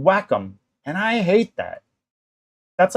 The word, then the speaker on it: Wacom: So I'm working on what's called a Cintiq by, I like to say Wacom, but that's not how it's pronounced. It's called Wacom, and I hate that.